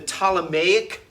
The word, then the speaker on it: Ptolemaic: note, you had and it's spelled with a PT, but we just pronounced the T, the Ptolemaic dynasty.